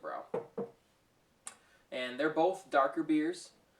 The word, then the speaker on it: Brau: company san jose california it doesn't have the accent so it's pronouncing it bro and they're both darker